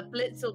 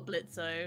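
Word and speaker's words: Blitzø: would kill um Bliss blisso their name is pronounced uh Blitz or blitzo it's Blitz kind of they're already in hell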